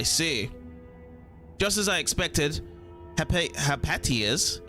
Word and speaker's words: Hypatia: Just as I expected, Hypatia's, I should actually pronounce it as that, Hypatia, heartfelt admiration for the mutants shows that one day this guy will be able to walk my path.